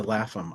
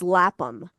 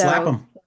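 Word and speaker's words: Lapham: It's just it's Lapam. So it's Lapam. Okay. The H is silent.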